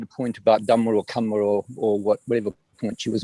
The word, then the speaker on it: kamma: I'm saying the correct Pali pronunciation is, as you say, with a short A.